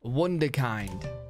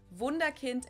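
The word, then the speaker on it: Wunderkind: heard snatched a lot Wonder kind wonderkind in English vunda Kint in German and this literally translates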